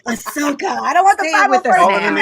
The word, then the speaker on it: Ahsoka: You know, say it right, Ahsoka.